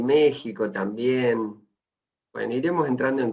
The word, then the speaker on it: México: con x Pero bueno la la x de ustedes les se parece al pronunciar a una J también si se escucha como J pero se escribe con x una de las cuestiones